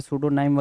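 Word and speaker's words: pseudonym: तो यहाँ पे सूडोनाइम में P आपका स्टार्टिंग पॉइंटर होता है, P से स्टार्ट होता है, बट P क्या है, जैसे साइकोलॉजी है, P से स्टार्ट होता है, लेकिन क्या है भाई, जो हम प्रोनाउंस करते हैं वो S से करते हैं, तो P यहाँ पे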